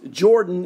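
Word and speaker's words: Yordan: go and tell you it's pronounced Jordan as in His Airness Michael Jordan is Jordan Alvarez he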